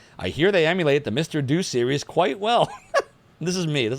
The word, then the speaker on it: Mr. Do: I never knew if it was Mr. Doe or Mr. Do. I have never known how to say it, so I always just called it Mr. Do. If it's Mr. Doe, you can correct me. But we got Mr. Thanks, Super Gears. Yeah, that's helpful. Do as in do it live.